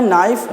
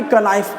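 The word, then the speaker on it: knife: N हो, है ना, यदि K के बाद क्या आ जाए N आ जाए तो N साइलेंट हो जाता है। क्या होता है N साइलेंट हो जाता है। सच है, देखिए K के बाद क्या है N है तो हम लोग डायरेक्ट पढ़ते हैं नाइफ, ना कि कनाइफ पढ़ते हैं।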